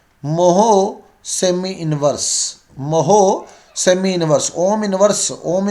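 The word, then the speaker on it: mho: Ohm inverse को हम लोग मोहो बोलते हैं, मोहो। तो जो चालकता का मात्रक बनता है क्या बनता है, मोहो सेमी इनवर्स, मोहो सेमी इनवर्स।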